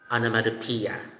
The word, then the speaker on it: onomatopoeia: will be sharing to you examples of animatopia onomatopoeia seems like a tongue twister right really i agree it's tongue twister ish but with practice it can definitely get the pronunciation anamadopia what is an onomatopoeia an onomatopoeia is a